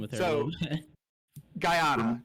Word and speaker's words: Guyana: It is pronounced Guyana.